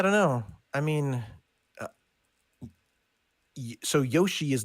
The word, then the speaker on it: Yoshi: find a lot of British people call him Yosi as well I call him Yosi yeah I don't know I mean so Yoshi is not the way that Americans would pronounce